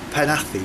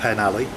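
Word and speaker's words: Penally: the 520 she's going to take me to panathi Which is the way you pronounce it not the pen alley pan athlete apparently back to the campsite it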